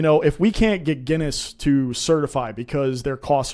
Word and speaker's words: Guinness: beer company so now I know that it's pronounced Guinness exactly oh okay so there you go cuz